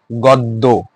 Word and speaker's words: গদ্য: গদ্যে দেখো গদ্য, দ, দ এর সাথে জ যুক্ত রয়েছে, জ ফলা যুক্ত রয়েছে, যুক্ত থাকার কারণে কি উচ্চারণে অ হবে কি? ও, গদ্য।